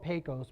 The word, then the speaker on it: Pecos: up in pekus Texas it spoke Pecos but I guess you pronounce it pekus Texas and this store